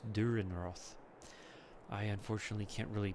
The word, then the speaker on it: Dürrenroth: know and this and it's pronounced with an e at the end so it's durin Roth I unfortunately can't really